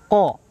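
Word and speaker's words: ق: Nah, didengarkan qalqalahnya juga harus dengar suara pantulannya. Jangan sampai ya membacanya bak nggak ada huruf pantulnya.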